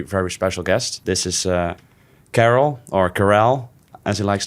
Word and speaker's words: Karel: So my name is Karel. It's the easiest way to pronounce it in English.